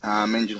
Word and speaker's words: Angel: I know it's spelled Angel, but it's pronounced a bit differently. It's Angel Hernandez.